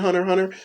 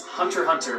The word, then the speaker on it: Hunter x Hunter: One series that knows how to do this is Hunter x Hunter by Yoshihiro Tagashi. It has an X in it, but apparently you're not supposed to pronounce the X.